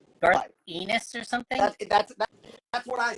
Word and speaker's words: Garth Ennis: Pronounce his name so I don't get teased again. Garth Ennis.